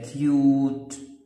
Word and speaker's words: cute: اوكي شوف هنا بيقول السي تتنطق كاف اه ك يبقى ك. اليو تتنطق ي و الاثنين يو يبقى كيو كيو. وبعدين ت تتنطق والاي مش بتتنطق يبقى كيوت.